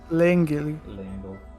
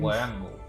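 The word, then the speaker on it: Leangle: Langle. I love taking the official pronunciations from the Deca driver, the way it says things. Langle.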